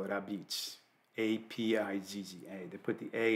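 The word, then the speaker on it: apizza: And pizza is not pronounced pizza in New Haven. It's pronounced Abitz, which is how they would pronounce it in southern Italy.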